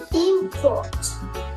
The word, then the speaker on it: import: Ok tiếp theo là khi mà import là danh từ thì chúng ta sẽ Nhấn vào cái âm Tiết đầu tiên đúng không ạ